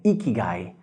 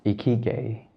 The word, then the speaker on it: Ikigai: glad to hear that now about the name iki guy how do you pronounce that is it Korean or is it